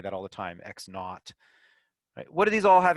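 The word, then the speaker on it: x₀: pronounce that zero naught using sort of a british pronunciation for the zero okay so x naught you'll hear physics physics teachers and mathematicians say that all the time x naught what do these all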